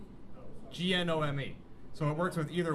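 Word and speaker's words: GNO/ME: So the compatibility layer works on both Orca and, is it pronounced Gnome or Nomi? Gnome.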